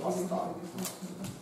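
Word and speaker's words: A*: Англійською Астара. Читається Астара, пишеться все одно А із зірочкою.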